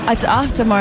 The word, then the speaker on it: Auf Der Maur: It's Auf Der Maur, and I think it's Dutch a great. Or is it German? It's Swiss German.